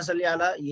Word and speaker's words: صلی: اللہم صلی علی، یہ اس کا بھی تلفظ صلی علی ہے. صلی علی، صلی علی مجہول نہیں پڑھنا چاہیے، اور سین نہیں پڑھنا چاہیے. صاد حروف مستعلیہ میں سے ہے جو پر پڑھا جاتا ہے، موٹا پڑھا جاتا ہے.